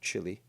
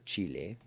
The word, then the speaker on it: Chile: All right, so now we're going to send these guys to the south, get them to supplement Santiago, Chile, or Chile, as it's properly pronounced, and just try to build up the cities in the south as quick as possible.